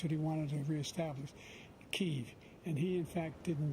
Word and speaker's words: Kyiv: Kiev is the typical way that it's pronounced in English, but it's become more popular to pronounce it in the more accurate to Ukrainian way.